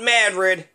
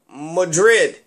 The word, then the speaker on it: Madrid: Versailles, Athens, Louisville, named after King Louis the 16th, Louisville, you know, and then Madrid, not Madrid, Madrid.